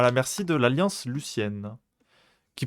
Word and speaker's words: Lucienne: Le colonel Young et la plupart du personnel militaire sont retenus à la merci de l'Alliance Lucienne, qui prononce Luxienne, donc je vais prononcer Luxienne.